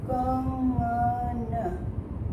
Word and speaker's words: कंगन: कंगन जैसे कि मैं प्रोनाउंस करती हूँ कंगन, कंगन। ग के ठीक पहले अनुनासिकता आ रही है, यानी नाक से आवाज़ निकल रही है। तो ग के ठीक पहले, क के बाद और ग के पहले इंग जैसा मैं प्रोनाउंस कर रही हूँ।